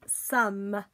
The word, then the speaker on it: some: Some.